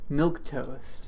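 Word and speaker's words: milquetoast: a sweater is something that is just so milk toast if I'm from if I'm pronouncing that correctly you are you are then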